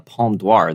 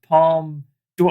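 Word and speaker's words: Palme d'Or: the dark in 2001 the uh palm dwarf their top prize there oh please mark it's pronounced palm do i i i just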